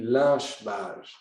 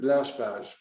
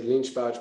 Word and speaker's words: Lynch-Bages: But the proper pronunciation should be Lynch-Bages. I'm sorry for you guys, because Mr. Lynch insisted that his name would be pronounced à la française, in a French way.